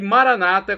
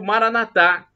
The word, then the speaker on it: Maranata: no tempo de Deus e Maranata como dizem os nossos irmãos separados protestantes e evangélicos ou Maranatha como dizemos nós católicos com a tônica na última sílaba para a pronúncia porque